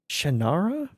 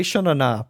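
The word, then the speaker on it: Shannara: of Terry Brooks and the shanara Chronicles right that's how you say it I keep wanting to say shanana but that's not right H you're currently a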